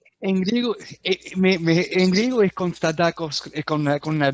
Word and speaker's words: Konstantakos: En griego, en griego es Constantakos con una D, o se suena con una D, pero en español sí Constantakos.